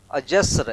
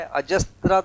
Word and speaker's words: अजस्र: अजस्र एक शब्द है, अजस्त्र ऐसा इसमें लिखा हुआ है, वो गलत है, माने स्पेलिंग उसकी गलत है, अजस्र होगा ये सब है ना, ये स्र हुआ अजस्र।